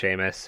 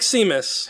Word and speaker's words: Seamus: I mean, you know it's pronounced Seamus. Why do you always do this to me? I've seen how it's spelled, It looks like Seamus.